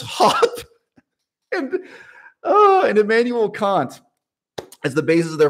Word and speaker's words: Kant: secondary literature on kant i should say kant let's use the british pronunciation here expanding that out